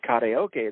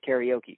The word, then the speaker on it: karaoke: that for some reason English speakers always pronounce the middle syllable the most. So instead of saying karaoke, they say karaoke.